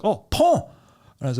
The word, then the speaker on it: Pons: I'm going through these tiny French towns, and I lived in a place called Pons, Pons, but it's pronounced Pont. In France, you don't pronounce the S.